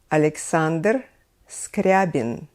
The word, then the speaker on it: Alexander Scriabin: all-time competitor in moscow conservatory was alexander scriabin alexander scriabin both Rachmaninoff and scriabin studied with a very